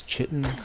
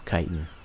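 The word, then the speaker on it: kitten: I can and know I will not pronounce it as chitten I don't think that's funny I think it's obnoxious and annoying and I'm sorry for the people who actually feel or believe that the word is pronounced chitten it's kiten and if there's ever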